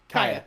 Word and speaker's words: Kaya: Yeah, is it Kaya? I forget the pronunciation. Kaya, yes.